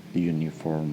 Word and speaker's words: uniform: Karena uniform itu cuma bentuk wordnya aja yang bentuk wordnya itu vowel, tapi pengucapan awalnya itu consonant. Kalian bisa cek sendiri ya. Pokoknya J U U U uniform, U U Y U, itu seperti itulah. Nah, terkadang ketika kata benda